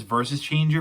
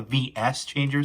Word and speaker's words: VS Changer: which um i know some people like to pronounce as versus changer but in the in the tv series this is actually pronounced the v this is called the vs changer so i'll call the vs structure from every